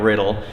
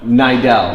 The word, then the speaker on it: Niddel: consistently top 10, Ryan Riddle. And am I pronouncing that right? Close, Niddel. Niddel, yeah. Niddel, okay.